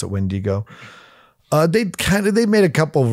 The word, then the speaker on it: Wendigo: Pronounce it Wendigo.